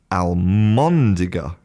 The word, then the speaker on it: almóndiga: was official, which is almóndiga. Okay, it's a l m o n d i g a. So, instead of being albóndiga a l b, it becomes almóndiga a l m.